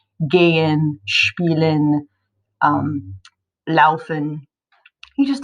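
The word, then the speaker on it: geh: we have the verb gay in how do you say go just like a command like go you would say gay gay all right and number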